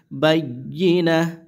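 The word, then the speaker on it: بينة: তাপেশ তু, বাইয়িনা তু, অকফের সময় কি হয়ে যায়? গোলতা হা হয়ে যায়, তাহলে এটা হা হবে বাইয়িনা, বাইয়া জবর বাইয়া জের ই, বাইয়ি, নুন হা জবর না, এরকম উচ্চারণ হবে কিন্তু, ঠিক আছে?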